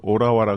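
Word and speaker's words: Ottawa: 토론토라고 우리나라 사람들하고 거기서는 아까 말씀하신 대로 그렇게 비슷하게 하고 오타와도 우리는 오타와라 그러는데 오라와라 그래서 어딘지 잘 모르고 갔던 적도 있습니다.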